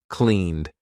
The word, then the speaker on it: cleaned: Failed. Cleaned. I'm not saying clean it or cleaned. I'm saying cleaned.